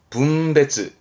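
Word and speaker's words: 分別: 뭘까요 그렇죠 분별입니다 분별 발음은 붐베즈 붐베즈가 있는데 이거를 훔 배치하기도 해요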